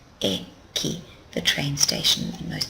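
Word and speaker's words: 駅: the train station there's the Ki and it's pronounced eki eki the train station and most people in Japan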